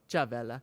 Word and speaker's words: Chavela: But Chavela, I'm saying it right? Chavela. Chavela. I don't like. It's good to do the cha Yeah, instead of the sh.